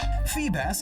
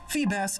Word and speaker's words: Feebas: Feebas is assumed to be a bass, and it transforms into a beautiful serpentine sea dragon. Fun fact, Feebas's name phonetically is the same as Phoebus, which means shining one